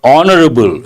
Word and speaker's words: honorable: winning sides but a honorable and important one H is silent based on that I'm